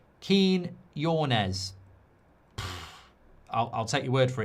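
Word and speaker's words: Quiñones: I think it's pronounced Quinones.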